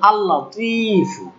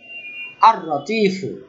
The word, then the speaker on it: আল-লতিফ: ওকে আবার লাম, যেমন আল-লতিফ আল-লতিফ, দেখেন এই আল-লতিফ বলার সাথে কিন্তু আর-রতিফ বলতে ইজি মনে হয়। ওকে আল-লতিফ, এই এই লামের উচ্চারণটা গুলো এরকম র না হয়ে যায়, আর-রতিফ এমন না হয়, ওকে সেটা হলো র